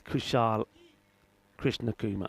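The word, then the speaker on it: Kushal Krishnakumar: Oh god, it just keeps getting it is Kushal KrishnaKuma. All right. So So I've been saying it right then. Correct. It's just a few times I said I know I said yesterday. I think I said uh Krishna Morti maybe once or twice.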